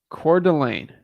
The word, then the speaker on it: Coeur d'Alene: to say it the right way core Delane Coeur d'Alene got it okay got it all right Coeur